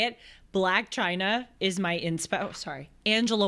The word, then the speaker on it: Chyna: the same sentence I I think it's pronounced China China black well she actually spells it that way c h y n a she spells it the